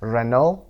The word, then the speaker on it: Renault: رنو رو تلفظش ببینید، یک کلمه فرانسوی هست، به این صورت تلفظ میشه رنو.